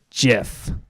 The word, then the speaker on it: GIF: exceptions of course but in general practice the G and Jeff is followed by an I so it's Jeff yeah so the old